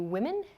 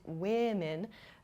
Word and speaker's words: women: Woman and women. The first vowel, O, here, does not change in terms of spelling, but in pronunciation it does change. Women sounds much different than the singular form, woman.